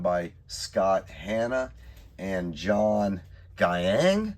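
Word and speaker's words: Giang: Spider-Man India, I had signed by Scott Hanna and John Gyang. I believe that's how you pronounce it. It could be Gang, but I think it's Gyang.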